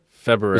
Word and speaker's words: February: February. It's like a Michigan thing. I don't pronounce the R.